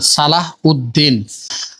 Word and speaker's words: সালাহ উদ্দিন: তার নামের প্রকৃত উচ্চারণ সালাহ উদ্দিন।